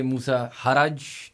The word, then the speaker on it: Moosa Harraj: We have a very interesting guest today, Musa Haraj.